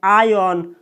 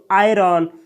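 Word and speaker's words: iron: कोई कोई स्पीकर दोस्तों, कोई कोई इंग्लिश स्पीकर इसमें आर का उच्चारण नहीं करता है, यानी इसको कोई कोई व्यक्ति बोलता है आयन और कोई कोई बोलता है दोस्तों आयरन।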